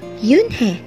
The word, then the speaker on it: Unhei: turned to joey she nodded slowly yes it's pronounced yunhei it means grace mr kim added yoon joey